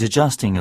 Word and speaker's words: adjusting: 싶었던게 거였죠요 발음 자 보시면 AD 그러니까 우리가 모음 다음에 D 혹은 B 오게 됐었을 때 그거를 받침으로 이렇게 집어 넣으셔서 한 음절로 읽어 주셔야 돼요 그래서 늘리지만 마세요 저스팅이라고 늘리지만 마시고 adjusting equipment이라고 해서 요거는